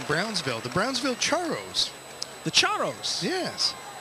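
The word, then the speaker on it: Charros: last team being Brownsville the Brownsville charos the chos yes not churros am I pronouncing it well no no no how's it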